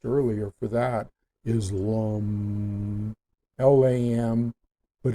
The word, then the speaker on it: LAM: for that, is LAM, L-A-M, but it's pronounced L-A-M-N-G. It's spelled L-A-M, but it's pronounced L-A-M-N-G. LAM, LAM.